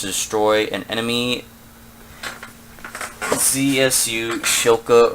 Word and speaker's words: Shilka: First objective is to destroy an enemy ZSU Shilka or Skilka, however it's pronounced. I say Shilka because I see it SH.